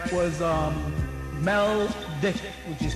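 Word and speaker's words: Maldek: And the sea people are the Dragons, the Vulcans, and their other the name of their planet, right, was Meldick, which is spelled M-A-L-D-E-K.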